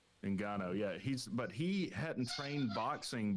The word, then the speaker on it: Ngannou: Francis Ngannou. Ngannou, yeah.